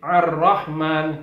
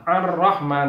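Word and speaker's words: الرحمن: dengan huruf hamzah yaitu cara membacanya tebal a tebal a arah nanti tidak boleh Rohman Wales Allah ar-rahman salah harus tebal a a Rahman kemudian lafal atau huruf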